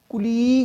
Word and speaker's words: colleague: ये कुलीग नहीं होता, कलीग होता है, कलीग, कलीग, कलीग, कुलीग नहीं होता है, बहुत से लोग बोलते हैं कुलीग, नॉट कुलीग, कलीग, कलीग, कलीग।